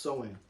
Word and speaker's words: Samhain: have been deceived in participating in, is called Samhain. Samhain. And it's spelled Samhain, but it's pronounced Samhain.